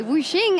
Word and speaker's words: Wuxing: I'm joined here by Wuxing, as I was advised by Wenson is the correct pronunciation, for the 80 carry